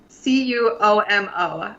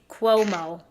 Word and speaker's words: Cuomo: like his favorite band bruce kumo i think that's how you say it reverse cuomo c-u-o-m-o i'm so bad at pronouncing we need this phonetics oh here it's cuomo and we just looked it up cuomo chloe so i was